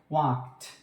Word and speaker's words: walked: Okay, so the word ends with ka sounds, then we go with ed, so it would be pronounced like walked.